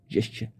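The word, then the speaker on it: gesture: जेस्चर, ये word आप देख लें, जेस्चर, इसको काफ़ी लोग गेस्चर पढ़ते हैं बट करेक्ट प्रोनाउंसिएशन है जेस्चर।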